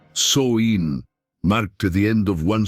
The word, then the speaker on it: Samhain: Samhain, pronounced Soin, marked the end of one cycle of life and the beginning of another.